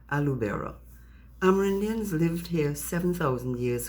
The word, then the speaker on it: Aloubera: Say her name, Alu Bera.